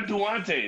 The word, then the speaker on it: Duante: So I get everything from Duante to Duant. I even get Dwayne once in a while, like the T silent and shit.